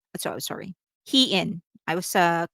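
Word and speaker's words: Hyein: One of which is that Herin and Yer, sorry, Hee-in. I was called out for the wrong pronunciation.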